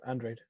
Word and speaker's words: Andrade: Usually, if a Mexican fighter's got that surname, it is Andrade. But for him, it is Andrade. Like, I've interviewed him and he said specifically, that's how you pronounce my name.